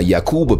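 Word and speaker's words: יעקב: birth name was Jacob which in ancient Hebrew is pronounced yakub or yakub the yakuba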